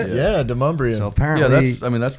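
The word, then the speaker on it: Demonbreun: Yeah, Demumbrian.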